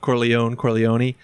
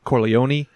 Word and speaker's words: Corleone: The pronunciation of Corleone, it's interchangeable, and it seems like when people are talking Italian, they say Corleone.